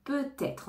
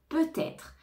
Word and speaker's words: peut-être: annuler l'événement peut-être peut-être on fait bien la liaison peut-être on entend le T peut-être donc peut-être c'est dit